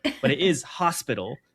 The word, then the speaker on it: Hospitalogy: And I'd like to say I do appreciate you annunciating the A in hospital. I call it like it it's either or, but a lot of people will misspell it um with an O.